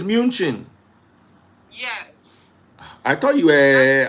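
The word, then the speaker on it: München: It's not Munich. Munich is English. Min is Deutsch. Okay. Okay. So, it's munchin.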